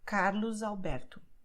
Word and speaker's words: Carlos Alberto: begin with a vowel, then the letter S is going to sound like the letter Z, which is why you say Carlos Alberto.